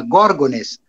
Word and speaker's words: Gorgones: latim possuí a forma gorgones com a tonicidade na primeira sílaba de onde o português